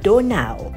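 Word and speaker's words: Donau: online search as to how a german speaker would pronounce the word danube and i came up with something quite different instead a german speaker would actually call it donao the distance of the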